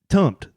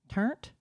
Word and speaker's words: tumpt: Uh tumpt. Turnt? Tumpt. Tumpt? Tumpt. How do you spell it?